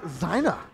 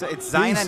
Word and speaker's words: Zaina: But it's Zaina, not Zaina? Zaina. It's Zaina. Oh, Zaina.